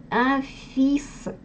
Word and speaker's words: fils: То есть буква «s» на конце читается, а буква «l» в этом слове не читается вообще.